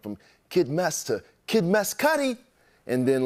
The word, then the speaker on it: Mescudi: I know I kind of confuse everybody with my rap name, but it's Meskity. Meskity.